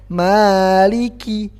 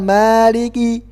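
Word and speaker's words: مَالِكِ: ada angin yang keluar Maliki Kiki jadi bukan mariki Kiki tapi qqqq ada angin sedikit aja ada angin sedikit saja yang yang keluar meiliki Kiki bukan q&q tapi Kiki kemudian yang perlu kita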